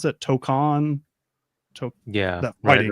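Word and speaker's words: Tōkon: So I believe Marvel, how do you pronounce that? Tokon? That fighting right. game. The fighting game, Tokon, right?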